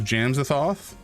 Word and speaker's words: Jamsathoth: I would pronounce it as Jamsathoth. And it's kind of a combination of Jams, obviously, and Azathoth, which is like a cosmic horror, eldritch, like H.P. Lovecraft sort of entity.